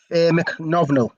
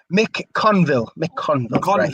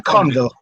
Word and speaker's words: McConville: He gives it out to the left to McNovnell. That's I can't pronounce that name. Lee Burgess just watches out for a goal kick. Mick Conville. Right. Yes. McConville. It's a silent C, isn't it? Silent C.